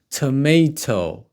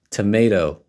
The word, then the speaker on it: tomato: so chopped tomatoes now tomato tomato or American English tomato the second T is pronounced as flap D tomato tomato in British English